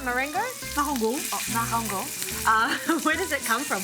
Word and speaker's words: Marengo: Oh, Marengo.